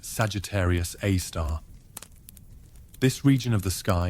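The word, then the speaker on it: Sagittarius A*: black hole known as Sagittarius A asterisk pronounced Sagittarius A star.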